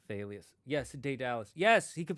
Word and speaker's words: Thalia: I never liked saying Thalia's name, because I read it pronounced as Talia with a silent H. Yeah, you would think that's the English pronunciation, but remember it's a Greek name. I think it's supposed to be Thalius.